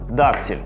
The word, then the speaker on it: дактиль: Дактиль с ударением на первый слог, амфибрахий с ударением на второй слог и анапис с ударением на третий слог.